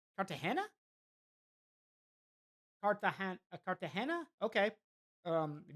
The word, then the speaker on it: Cartagena: Incidentally, hey, Barusa, incidentally, the G in Cart Cart is pronounced like an English H. So, Cartahena. Cartahana.